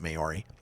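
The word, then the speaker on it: Māori: is white and mayori I think you pronounce it mayori uh Pacific island uh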